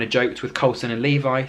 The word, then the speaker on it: Levi: if it was pronounced Levi or levie um he basically said Levi like the jeans and Nikita said well